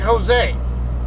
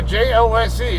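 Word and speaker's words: José: If you see a J and it's a Spanish word, pronounce it like an H.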